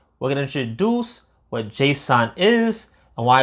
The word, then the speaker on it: JSON: But this in fact is called JSON, JS O N, but pronounced JSON.